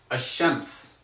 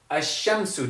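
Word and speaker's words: الشمس: a good example for that would be hashems a shemps okay so shems means Sun the way that this is written does this mean the Sun or a sun a shamsu does this mean a Sun or the Sun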